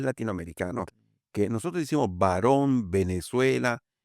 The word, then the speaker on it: Venezuela: que nosotros decimos varón, Venezuela, y no se debería decir Venezuela, se debería decir Venezuela. Venezuela. Es dentilabial, una B. La B es bilabial, bilabial, la dice.